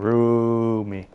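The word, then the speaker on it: Roumie: I always mispronounce his last name. Roomie." Yeah, Jeremy Roomie.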